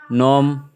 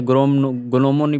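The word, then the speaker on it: gnome: है ना फरेन ग्र नोम नोम नोम इधर हम नोम पढ़ रहे गनोम पढ़ रहे गोमन है ना तो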